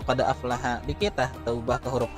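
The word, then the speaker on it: أفلح: Tadi dibaca qad aflaha man zakkaha, bacanya qad aflaha.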